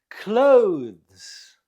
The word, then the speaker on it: clothes: you say this word clothes clothes it's one syllable clothes number four now